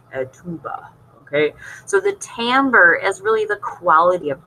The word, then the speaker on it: timbre: uh people call it tonbra uh timbre would be spelled t-a-m-b-e-r but it's not spelled that way it's spelled t-i-m-b-r-e but the pronunciation is